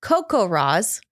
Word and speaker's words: CoCoRaHS: It's pronounced CoCoRaHS.